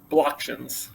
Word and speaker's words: Blocktions: Blocktions. So Blocktions. blockchain-based auctions. There you go.